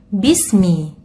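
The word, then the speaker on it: بِسْمِ: Bismi, mohon diperhatikan jangan sampai sinnya terseret, akan tetapi sinnya kita baca tuntas sebelum masuk ke makhraj mim. Bismi, jadi bukan bismi.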